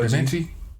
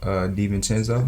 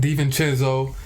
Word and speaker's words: DiVincenzo: Obviously, we got I don't even know how to pronounce what can we call him? Da Vinci? Oh, you talking about DiVincenzo? DiVincenzo, yeah.